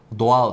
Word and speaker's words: doğal: soğan diyoruz arkadaşlar yine doğal kelimesinde Doğu demiyoruz Hani diyorduk ya bir harfi etkisiz hale getiriyordu ko ve ay yanyana geldiğinde kimse ortadan kalkmıyor doğal şeklinde telaffuz ediyoruz bu A kelimesi de